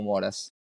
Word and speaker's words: Moras: So yeah, the correct pronunciation is. but the surname was right. So Moras.